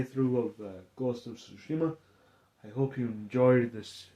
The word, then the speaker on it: Tsushima: don't say you say sushima like like you should shushings on the t is silent I'm not Japanese but